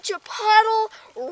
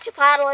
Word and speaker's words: Chipotle: be yelling at me oh it's not Chipotle it's Chipotle like I don't care and I know that but I like saying Chipotle because that's kind of how it's spelled that's actually how it is spelled yeah that's how it's